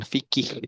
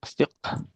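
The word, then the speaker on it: فقه: Qara'tul yawm darsan jadidan fil fiqhi. Qara'tul Qara'al darsan jadida fil fiqh. Ya, darsan jadidan fil fiqhi. Jadi ilmu fikih nih ya. Jadi yang betul bukan fikih tapi fiqh. Qafnya sukun, ha berharakat fiqh.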